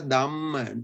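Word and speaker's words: damma: Now this is Purisa Dhamma. There's no H here.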